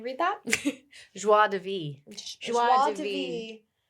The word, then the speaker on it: Joie de Vivre: Joie de Vivre. Is how you say it.